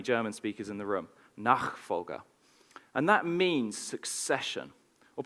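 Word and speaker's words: Nachfolge: book which I'm reli reliably told by my brother is pronounced nak fga I think apologies to any German speakers in the room nak fga and that means succession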